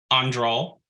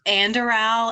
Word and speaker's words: Andoral: Andral, C. Uruthamel, or D. Dumont? And Shelby is laughing at me for my pronunciation. I tried. It's Andoral and Earthemiel, but Whatever.